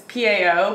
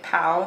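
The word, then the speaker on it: pão: got more Brazilian style cheese bread I'm gonna mispronounce It Again Boutique show but you're supposed to say like it's Pao but if you say pow that's a vulgar word so it's like wow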